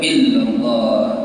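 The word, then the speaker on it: إلا الله: Dikir la ilaha illallah, tidak boleh illallah, illallah, illallah. Ini sempurna. La ilaha illallah. Dan kadang-kadang juga pengucapan illallah ada yang mengganjal, bukan illa tapi illallah. La ilaha illallah, harus illa artinya pengecualian.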